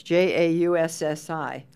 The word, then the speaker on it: Jaussi: I want to know how and why it's pronounced with a Y when it's Jaussi.